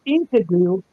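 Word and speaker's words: Enkidu: I find it funny that Gilgamesh's buddy is Inkadoo, which is spelled E N K I D U.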